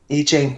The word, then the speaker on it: I Ching: That's how you pronounce it. I Ching, that's right.